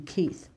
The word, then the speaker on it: Keith: They do not pronounce the TH in Keith.